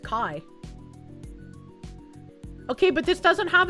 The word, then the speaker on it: chi: Greek and the letter x which is uh spelled chi but pronounced kai.